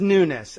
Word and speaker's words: Nunes: n Sound to Nunes but he pronounces it Nunes uh to be perfectly American he should say my name is Devon Nunes uh but he says nness I learned that from